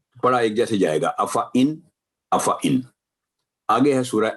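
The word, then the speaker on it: أَفَإِن: یہ دیکھیں افا، دیکھنے میں افا ہے لیکن کیونکہ الف زائدہ ہے تو افا ان، افا ان، افا ان، افا ان.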